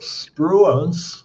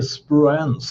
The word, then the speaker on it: Spruance: Medan jagaren USS Spruens, jag vet inte hur det uttalas, s ru a n e. SPR, jag säger spruens, spruens är upptagen med att jaga små fraktfartyg vid kusten.